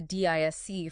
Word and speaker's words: DISC: Well, if you look at older models like, say, the DISC framework, you know, rhymes with risk, they usually map human behavior into four rigid overarching quadrants.